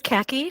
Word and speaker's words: Kaki: So my name is Kaki, pronounced like the color.